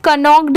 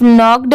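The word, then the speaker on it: knocked: नॉक्ड पर बहुत सारे लोग यह सोचेंगे कि इसे कनक क्यों नहीं पढ़ेंगे क्योंकि यहां पर तो के दिया हुआ है पर नहीं यहां पर जो के दिया हुआ है यह साइलेंट है इसे सिर्फ नॉक्ड पढ़ेंगे अगर आपने मेरी साइलेंट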